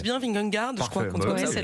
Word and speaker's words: Vingegaard: Est-ce que je prononce bien Vingegaard?